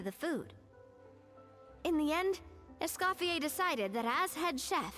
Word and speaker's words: Escofier: Find Escafier.